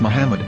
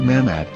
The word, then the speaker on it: Muhammad: yehuda's Hebrew English dictionary it is correctly pronounced as Muhammad not mmad so how we're going